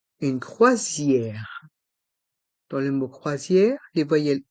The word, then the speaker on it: croisière: M gourmande gourmande une croisière dans le mot croisière les voyelles o et i se prononc C Zier le S entre les voyelles i o Zier donc il se prononce ze une croisière une balade gourmande une balade gourmande une croisière